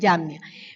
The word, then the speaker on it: Jamnia: Confirmaron en ese concilio de Jamnia, o de Jamnia, así se pronuncia, Jamnia.